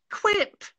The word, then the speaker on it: Quip: in Print Prize," and it's only recently I discovered it's pronounced "quip."